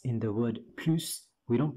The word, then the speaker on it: plus: Here we do pronounce the S, unlike here or here, because here it means any more, and here it means more.